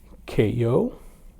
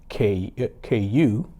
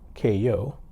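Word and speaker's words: Kayou: Uh, it's pronounced Ko and it's spelled K A Y O U.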